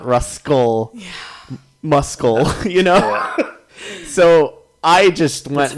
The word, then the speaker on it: Ruscle: We learned like our russality was changed a few weeks ago when Russell is spelled Ruscle in ruscledew, and I always assumed that it was just Russell, but it's not. It's Ruscle.